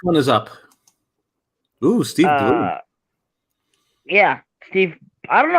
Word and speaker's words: Blum: know I don't know if it's bloom or Blum I heard I think it's pronounced Blum at least all right Blum it is because when I because I actually went to a convention and he was there and they said Blum but then another person